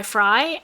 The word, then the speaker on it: Frey: m.f y Twitter is fry s CF y yes I I chose that